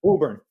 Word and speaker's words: Woburn: Did I pronounce that right? Woburn? Woburn.